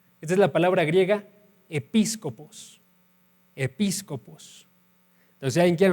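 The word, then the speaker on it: episkopos: Esta es la palabra griega episcopos, episcopos. Entonces, si alguien quiere anotarla, episcopos, se escribe con K en vez de C, episcopos, y todo lo demás como se escucha, ¿sí?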